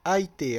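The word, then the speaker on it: 相手: à côté de l'autre, ça se prononce Aite, vous voyez. Et normalement, quand deux kanji sont l'un à côté de l'autre, on utilise la lecture chinoise, mais là, c'est la japonaise.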